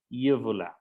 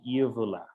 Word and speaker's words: uvula: So this is called uvula. Okay, uvula. Perfect. Miren que se escribe igual que en español, pero la pronunciación cambia. So we say uvula.